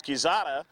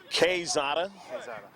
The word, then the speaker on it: Quezada: Got a new pronunciation for Jeffrey, and it's Quezada rather than Quezada.